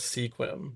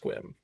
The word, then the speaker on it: Sequim: When you look at the word Sequim, it looks like it says Sequim, but I believe it is pronounced Sequim.